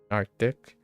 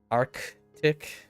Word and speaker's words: Arctic: Native English speaker often pronounce it without the C. That's fair. That's fair. Arctic. Arctic.